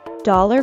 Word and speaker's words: dollar: my flat broke dollar for dollar dollar well I bet we all know what it is the O is pronounced as an a sound and the word is stressed on the first syllable dollar dollar dollar